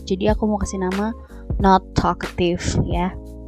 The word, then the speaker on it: Nath'talkative: aku mau kasih nama not aktif ya tulisannya natha atau aktif tapi dibacanya not kayak typo gitu loh jadi notnya dibaca yang kayak negatif ya oke udahlah Lama deh